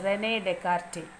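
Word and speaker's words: René Descartes: here you want to read the name yes is silent here the name is Renee dear and by his name only c c a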